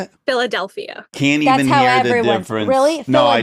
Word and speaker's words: Philadelphia: do you say it Philadelphia can't even hear no I don't even know I'm saying Philadelphia you make it an O instead of an e okay Philadelphia yeah yeah for sure